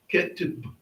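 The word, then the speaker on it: כתיב: Sometimes people, when they see the last letter, they'll say like ma or ba. You don't say it. It's just that short sound. Ketib.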